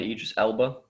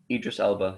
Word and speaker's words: Idris Elba: don't know it's a british crime series starring aegis elba who's actually is that how you say his name idris elba he's a he's actually an outstanding actor yeah